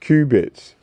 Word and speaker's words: qubits: information that comes in quantum bits or qubits pronounced qubits which is remarkably similar